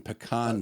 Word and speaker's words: pecan: Nut pie as in pecan pie, which by the way is the correct way to pronounce it.